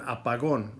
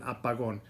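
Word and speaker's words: apagón: an x that little x is called an apagon a pagodas are basically when you use this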